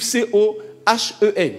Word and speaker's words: Cohen: Bon, il y en a qui l'écrivent C-O-H-E-N. Dans tous les cas, on prononce Cohen.